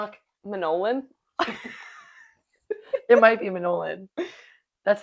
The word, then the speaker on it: Manolin: You should know how it's pronounced. Manolin. Madeline. You see why I said that? I think of mandolin. So we got Ernie and Melatonin. Anyway, It's Manolin.